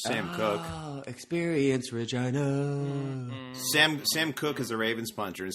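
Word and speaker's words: Sam Koch: Sam Cook is a Ravens punter. And speaking of last names being spelled like they're not pronounced, Sam Cook's last name is spelled Koch.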